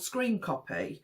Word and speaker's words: scrcpy: So I came across a solution, and it's something called, it's called Screen Copy, but it's spelled SCRCPY.